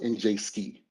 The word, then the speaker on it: NJSCI: um the njsci platform the acronym is pronounced in jski platform and so again while